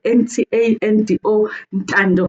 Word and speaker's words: Ntando: I'm not Tando. I'm Tando. Ntando.